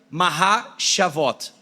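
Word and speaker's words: מחשבות: E a palavra em hebraico planos, ela se pronuncia maha shavot, que significa planos, intenções profundamente pensados, algo que foi muito bem pensado.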